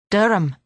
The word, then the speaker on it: Durham: But you said Durham. It's spelled funny. You can never tell with English.